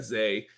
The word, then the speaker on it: Zay: So really, because it looks like it's Zaquan, right? Yeah. At least that's the way that I read it. But yeah, Zay, he goes by Zay.